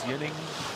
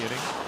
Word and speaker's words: Ginning: And if he wants Yinning, we will give him Yinning. Yeah, we give him whatever they want. Whatever they want. That's the proper pronunciation. It sounds right when you're thinking about Swedish?